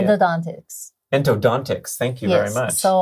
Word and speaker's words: endodontics: Okay, so you're doing endodontry? How do you say endodontics. It? Endodontics.